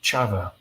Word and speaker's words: Chava: He had a sister, my great aunt Chava. She lived in Warsaw before the war. It's pronounced chava. Chava. In Yiddish, there's no cha. It's all cha, like Hanukkah and challah.